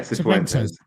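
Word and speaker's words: Cifuentes: Suventes. Huh? Yeah. Yeah. Suventes.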